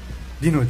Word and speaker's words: Dino: Ve arkadaşlar Dino, Dino diye yazılır, Dino diye okunur.